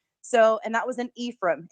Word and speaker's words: Ephraim: and that was an Ephraim everybody pronounces it wrong but it that was an E from Utah and so I went